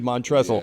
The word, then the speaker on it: Montrezl: So, honestly, just, being, people seeing that, they always think they got to pronounce every letter in my name, though. Right. And then when I correct them and tell them it's Montrez, and then they feel